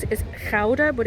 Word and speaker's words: Gouda: we pronounce it as chowder but it's i think most people say gouda like the cheese gouda or food cheese so